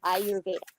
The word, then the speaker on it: Ayurveda: Ayurveda. Okay, I always have a problem pronouncing it.